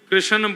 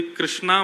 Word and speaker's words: कृष्ण: लाल की जय बंधुओ कई लोग इस नाम को अशुद्ध बोलते हैं कई लोग कृष्ण बोलते हैं कई लोग कृष्ण बोलते हैं कोई कृष्णा बोलता है भगवान का नाम शुद्ध उच्चारण करो नाम क्या है कृष्ण भगवान जय श्री